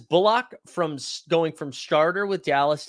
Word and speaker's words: Bullock: It's Reggie Bullock. It's not Bullock.